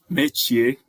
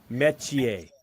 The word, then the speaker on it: Metchie: Metchie. Metchie. Okay, good, man. It's like awesome. Deep E's, and then you roll the TCHIE all together.